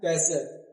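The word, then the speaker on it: castle: कैश ले कैसल यहां टी जो है वो साइलेंट क्या बोलना है कैसल कैसल का मतलब क्या होता है किला कैसल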